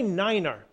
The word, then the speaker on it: Niner: be as 16 Niner the number nine has its own pronunciation due to the fact that nine can sound like five when spoken quickly over the radio say Niner in instead of nine November 6 ner golf